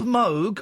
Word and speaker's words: Moog: I've got record and he said it's introduced as Robert Moog and he he even says his name is Moo right well we're going